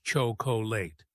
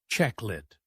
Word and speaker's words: chocolate: Many people say all the letters chocolate, but in English we say checklet.